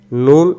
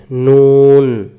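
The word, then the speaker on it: نون: এখন আমরা দেখব নুন এবং ওয়াও অক্ষরের উচ্চারণ। এই যে এই অক্ষরের নাম কি? নুন। অনেকে আমরা এই অক্ষরটাকে নু পড়ি, নু, নু নয়। অক্ষরের নাম কি? নুন। অক্ষরের নাম নুন।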